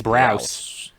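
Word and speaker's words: Braus: How do you pronounce their last? I believe it's Browse.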